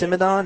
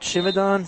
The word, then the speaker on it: Simadon: It's pronounced Simadon, not Chimadon.